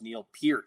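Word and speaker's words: Neil Peart: Canadians you should know it's pronounced Neil Pier not per so so there you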